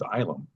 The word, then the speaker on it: Ilum: But the proper pronunciation is Ilum. Island.